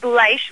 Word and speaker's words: Bleish: You said it wrong a couple times. It's Bleish, long I, like German.